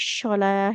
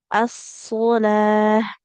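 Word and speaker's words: الصلاة: Maka jangan lagi kita baca huruf sod jadi syo ya, tidak wa aqamus sholah ya, tapi so as-solah as-solah tidak jadi huruf syo seperti itu.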